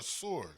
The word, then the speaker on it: Sur: Is it sir s u r or sore? Cuz I know sir. Yeah, but I thought it I thought it's pronounced sore in uh in in uh Spanish.